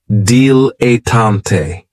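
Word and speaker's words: dilettante: is a dilatant and this word has three syllables and there's kind of like a stress on that first and last syllable deal a tante the reason I say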